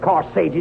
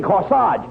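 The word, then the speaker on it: corsage: that's SW no no not Cori you mean no no no no you mean corage AG G is pronounced a as in carage and garage where did you get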